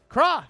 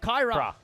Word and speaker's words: Kra: Kra! He's not Kyra. Kra! I didn't get the pronunciation sheet, okay? It's K-R-A. Where's the Y? Where's Kyra? It's K-R-A. Kra.